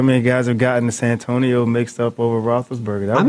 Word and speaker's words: Santonio: the spelling was correct because people were saying San Antonio and we knew it was Santonio and we couldn't figure out how to spell it.